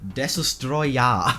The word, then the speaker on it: Destoroyah: state by the way his name isn't Destroyer like I know you're not saying Destroyer but it sounds like Destroyer if you don't know it's Destroyer yeah Destroyer it's just the Japanese pronunciation of Destroyer yeah that's the official